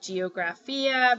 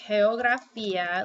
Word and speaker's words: geografía: a little funky um people at geografía but it's not it's pronounced hail graffia like this Hey Oh bra feet ah heyo graffia so whenever the G is next to just like the c wen jie jie next to an e or an eye sounds